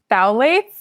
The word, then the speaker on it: phthalates: And can you spell it and say it again? It's phthalates.